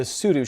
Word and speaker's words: Sudo: a podcast called The Sudo Show, or Sudo. Correct. Sudo or Sudo? It is technically pronounced Both. Sudo Show. It is Sudo Show. Both are correct.